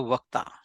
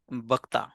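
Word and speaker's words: वक्ता: So I am the speaker means in Hindi or Sanskrit, it is called the Vakta. If you go to Bihar or Bengal, they call it Bhakta because they cannot say wo.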